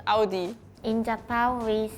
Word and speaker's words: Audi: only one I think French was the only different one UD because like in France if we have Au U together the pronunciation become o so we have to say UD UD UD I had the different